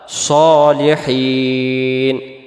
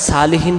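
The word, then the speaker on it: صالحين: উপরে, ইবাদিল্লাহিস আল্লাহর বান্দার, সলিহিন নেককার বা সৎ। সলিহিন শব্দের অর্থ হলো নেককার বা সৎ। তাহলে এটাকে আমরা সালিহিন পড়ব না, উচ্চারণ করব কি আমরা সলিহিন। আবার হিন টান দিব।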